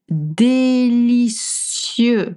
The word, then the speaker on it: délicieux: And then délicieux with a cieux sound like 7.